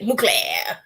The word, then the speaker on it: Mugler: Mugler.